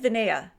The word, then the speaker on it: Vinea: Vinea.